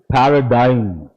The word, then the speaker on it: paradigm: How do you pronounce this? Paradigm.